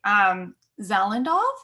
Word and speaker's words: Zalendov: I'm saying this incorrectly, Zalendov? Is that how you say it? Okay, perfect. You know how when you're reading something and you convince yourself it's pronounced a certain way, and then you listen to the audiobook and you're like, oh dear, I was completely wrong. All the time. That was correct.